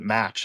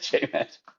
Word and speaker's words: JMach: A lot of people try to pronounce it match, and I'm like, what? But J-Mac.